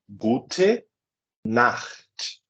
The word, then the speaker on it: Gute Nacht: Então, Gute Nacht. Percebam que não é Guten, é Gute.